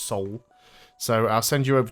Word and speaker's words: Seoul: you hopefully get you over to seal and or soul o se seal because that looks like how it's spelt but apparently is just soul so i'll send you